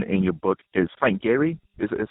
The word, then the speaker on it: Gehry: the last person in your book is Frank Gehry. Is that how you say his name? Yes, Frank Gehry.